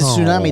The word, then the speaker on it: tsunami: The T is silent, like No, on it's not. climb. It's not climber.